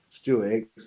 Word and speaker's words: Stuart Hicks: Rhymes with Dix. Stuart Hicks, isn't it?